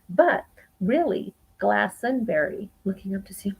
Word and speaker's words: Glastonbury: a lot of apples it is not strictly correct to pronounce the t in glastonbury so you know we might have a tendency to say glastonbury because that's how it's